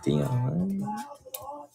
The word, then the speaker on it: Dion: there D I know I know I'm not saying it right no it's Dion all right I forgot